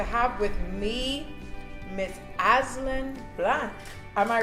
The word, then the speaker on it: Blanc: So it's Asline Blanc. Yes. Oh, you said it perfectly right. Blanc. Blanc. I love that. The N and the C is silent. French.